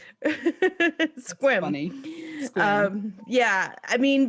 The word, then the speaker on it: Sequim: Squim. Sequim. Squim. Squim. It's pronounced squim.